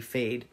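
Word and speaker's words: Feyd: They spell it F-E-Y-D or something. F-E-Y-D, Fade.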